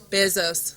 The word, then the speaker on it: Bezos: us a presentation on the Bezos, did I pronounce it correctly? Bezos, thank you.